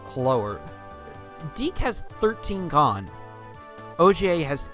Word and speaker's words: Ogier: His name is pronounced Ogier. It's supposed to be French.